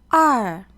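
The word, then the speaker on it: 二: where to put the stroke this character is pronounced R it has two strokes and it looks like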